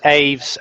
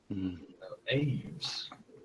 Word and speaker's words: Aes: fly trap says it's AES as in rhymes with shaves oh I was pronouncing it like the Latin for bird AES AES what color is it